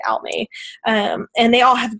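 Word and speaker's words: Aimee: and then almay darling which she spells her name like it's amy it's a-i-m-e-e darling but she pronounces it out me um and they all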